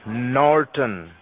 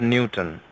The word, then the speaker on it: Norton: luckily it's n o R T Oh N Norton that is the way we pronounce it it's not Newton you got it now yes now tell me